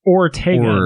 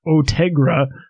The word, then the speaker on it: Ortega: It's Ortega, not Ortegra.